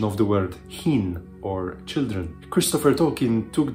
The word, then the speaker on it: Húrin: making unaware readers that the correct pronunciation should be as in the German Bach, rather than the more common CH in English, chin.